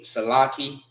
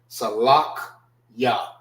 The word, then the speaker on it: Salachya: This is not Salaki. It's actually Salakia. Salakya. That's how you properly pronounce it. Salakya. Salakya. That's the proper way of pronouncing it.